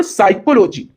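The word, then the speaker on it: psychology: ही पता चल गया which letter is silent in the word साइकोलॉजी साइकोथेरेपी है यहां पे तो साइको हमने यहां एस से पढ़ा पी छोड़ दिया क्यों क्योंकि ये साइलेंट है तो पी ही हो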